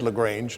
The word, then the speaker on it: LaGrange: And then you were at, is it pronounced LaGrange or LaGrange? Right, they said LaGrange now.